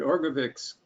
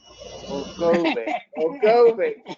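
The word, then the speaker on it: Orgovyx: I just got my first shipment of Orgovix today, but I don't start taking it for a couple of weeks. Oh, great. Okay. I think you're our third Orgovix member.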